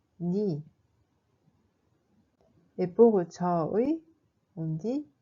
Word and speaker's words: 네: Mais dans ce cas, on prononce plutôt comme ni.